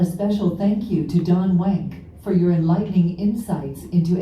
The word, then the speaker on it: Wank: It's spelled W-A-N-K. It's German name, and it would be Wank, you know, W's are like a V, but Wank is the way that I like it to be pronounced.